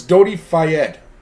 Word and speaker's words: Dodi Fayed: where oh thank you j-ron it's so it's dodi fayed that's how you say it apparently i suck at pronouncing things um yeah i think his dad's